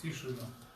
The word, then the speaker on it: Тишина: Тишина.